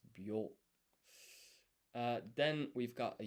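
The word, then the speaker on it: びょ: So this is not bi yo, it's byo.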